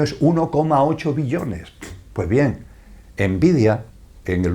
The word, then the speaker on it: Nvidia: tiene el curioso nombre, lo pronuncio en castellano, ¿vale? Envidia es como se llama, nvidia, envidia es como se llama esa empresa envidia.